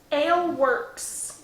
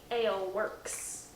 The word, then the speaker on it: Alewerks: what's the brewer or who's the brewer rather ale works but it's not spelled like you would think it's a l e w e r k s ale works does it now ale works brewing company yup pretty little logo too it's